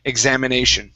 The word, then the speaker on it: examination: and then this one is the long a examination try that examination there you go good good